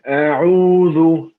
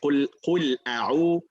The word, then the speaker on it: أعوذ: Here, one thing I noticed, you said أعوذ. It's not ذو, it's ذو. So the very tip of your tongue is going to be between your teeth. If the tip of the tongue is more to outside, outside the mouth, is going to sound like dha.